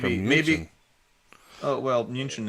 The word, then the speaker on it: München: Oh well, München is how you say Munich in German.